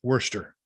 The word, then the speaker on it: Worcester: I mean, there's a town in Massachusetts it's spelled Worcestershire. Yeah. It's pronounced Worcester.